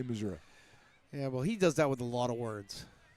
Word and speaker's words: Missouri: Did you say Missouri? Missouri, that's how you say it. Okay. Because my father-in-law was from Missouri, and he says it Missouri.